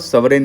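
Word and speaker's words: sovereign: करोगे, तो land was सोरेन in nature. ठीक है? इट वाज़ सोरेन in nature. It वास कंट्रोलोल्ड बाय राइटिंग पे स्पेलिंग पे मत जाइएगा।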